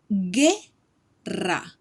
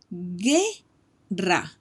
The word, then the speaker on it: guerra: Those words need the vowel U, between the G and the U. Let's take a look at some ejemplos. Guerra. Guerra. Don't forget the double R, which means war. Guerra.